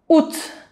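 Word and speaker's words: août: a gente só fala UT, Então isso aqui não tem pronúncia, Você só vai falar isso aqui. “Ut”. E ainda não é com som de “î” e com som de U mesmo, Ut.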